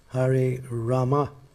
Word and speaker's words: Rama: And it's Hare Rama, it's not Hare Ram. I mean, you can say Hare Ram, but then again, Hare Rama is the actual thing.